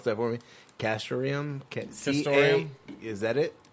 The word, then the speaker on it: castoreum: palace you might have you'd pronounce that for me castoreum kids Centauri is that it is it the